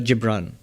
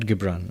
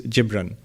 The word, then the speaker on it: Gibran: Um, Bajanji quotes Khalil Gibran, not Gibbran. Okay, because I looked it up yesterday. The Arabic pronunciation is Gibran.